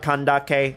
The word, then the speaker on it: Candace: bit of law but that's why I pronounce it that way Sano and kandake I'm trying to be